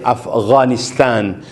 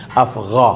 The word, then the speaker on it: Afghanistan: na ang pangalan ay Afghanistan ganun siya pero pronounce hindi Afghanistan hindi Afghanistan afgha gha so ito siya pag